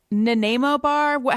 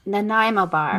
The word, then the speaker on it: Nanaimo bar: video okay so alicia nanemobar how do you say it no nanaimo bar nanaimo and what is yeah explain